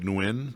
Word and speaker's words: Nguyen: The Miller case, the Nguyen case, like, it looks like Nguyen, but it's the, pronounced Nguyen.